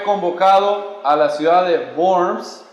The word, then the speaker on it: Worms: Lutero fue convocado a la ciudad de Worms, se escribe Worms, pero en alemán se pronuncia Worms.